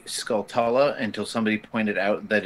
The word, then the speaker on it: Skulltula: my high school who used to pronounce it Scalantula. Huh? Yeah, like there's no A in the like. And see, I've always called them Skulltulas. That's how I used to say it, Skulltula. Understandable, incorrect way of saying.